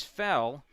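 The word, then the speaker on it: Gfell: first pitch outside from fell 0-1 fellow where's number 36 spells that last name g-f-e-l-l the g is silent a sophomore 5 10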